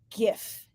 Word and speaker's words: GIF: fearless leader Ryan uh pronounces it gif as in gift and we had quite